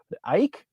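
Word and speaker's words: Eijk: for the pronunciation I cannot I can never pronounce his name right Ike e i j k from the Netherlands he's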